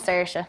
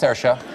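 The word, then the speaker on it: Saoirse: Once you unlock it and you know the key, it's very you can pronounce anything. Tell me how I'm supposed to say it. That one's Searsha. That's Searsha?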